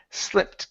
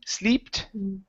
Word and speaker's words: slipped: your last word is slipped give me a short I sound instead of SLE sleeped okay it's sorry i s